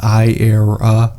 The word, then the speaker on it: Aehra: the correct pronunciation is eye error this name is derived from the Latin word for era incentivating that we are entering a new era for Italian car ayero was founded in early